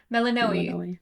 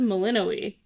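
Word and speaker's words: Melinoë: That's not how they say it. She says Melinoi. Melaninoi. I thought they always Are we just hearing it different?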